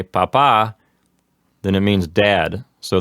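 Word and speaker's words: papá: Papa.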